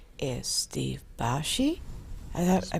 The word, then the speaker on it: Basche: show beside me to my right is steve bashi i thought i pronounced your last name right yes ma'am so